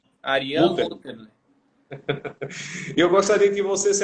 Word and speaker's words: Murterle: Eu não conheci o amigo, não é Ariane Mutterli. É Mutterli ou é Mutterli, Ariane, a Mutterle, pronúncia? Ariane Mutterli. Mutterle.